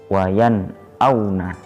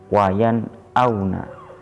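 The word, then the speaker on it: وَيَنْأَوْنَ: Cara membacanya ialah dengan membaca jelas suara nun sukun tersebut. Lihat tabel contoh bagian kanan paling atas. Wayan auna. Wayan auna. Non dibaca jelas, bukan eng ataupun nye, tetapi suara n.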